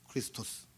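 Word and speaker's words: Χριστός: 이 마시아흐의 헬라식 발음이 오른쪽에 나와 있는 크리스토스예요. 크리스토스.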